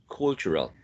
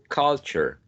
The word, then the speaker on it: culture: Cultural. But the fact is that this is a wedge. Culture, cultural, ka.